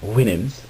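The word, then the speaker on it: Houyhnhnms: And he voyaged to the land of the whinims. It's actually spelled a lot different than that, but apparently it's pronounced Winnhams and the Yahoos.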